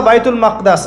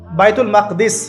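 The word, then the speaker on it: بيت المقدس: এবার এই বোরাক চলে গেল বাইতুল মাকদাস। এটা কোথায়? বাইতুল মাকদিস, বাইতুল মাকদাস না, বাইতুল মাকদিস। বিভিন্ন মানুষ বিভিন্ন উচ্চারণ করে।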